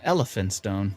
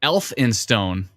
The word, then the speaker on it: Elphinstone: i said elephant oh elf in stone oh no e-l-p-h is an f so elfinstone oh it's elphinstone not